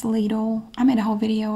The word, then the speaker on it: Lidl: The next best thing that I found are the Lidl paper towels, and that is how we pronounce it in the USA. It's Lidl.